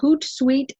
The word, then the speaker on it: Hootsuite: walk step-by-step through the HootSuite dashboard HootSuite is spelled as you can see on my screen right now h oo t s UI t e hoot like an owl and then sweet so today I'm going